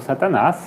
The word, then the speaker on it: Satanás: With an accent on the last A. Up here. Yeah. So this power, France, is controlled by Satan, Então esse poder, França, é controlado por Satanás.